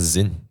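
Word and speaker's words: Sinn: of watches which is Zin okay s NN yeah s NN but why is it pronounce Zin because it's German all right because that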